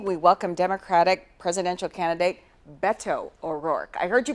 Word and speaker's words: Beto O'Rourke: The campaign trail is going through Sioux City this week, and this evening we welcome Democratic presidential candidate Beto O'Rourke. I heard you pronounce it.